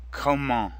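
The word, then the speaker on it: comment: so come come come Kamal means how the final T is silent and before that the en makes the same nasal sound as in cone repeat after me koe mo come on come on come on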